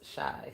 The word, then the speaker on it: Shai: Twin party of five's name is Shai. S hi. The comment right above yours. That's how you spell it. But twin is shy.